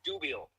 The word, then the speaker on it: Dubiel: it would be good to start on the pronunciation of your last name all right sounds good uh my name is Matt dubiel and I am uh in suburban Chicago I'm